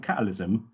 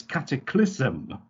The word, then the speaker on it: cataclysm: I say as I was saying catalysm, It's Cataclysm, and that was enough to put Alexa off from understanding what the hell I was saying.